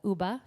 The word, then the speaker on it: Uba: And Uba for Yuba. Uba is the Nisenan pronunciation of the word.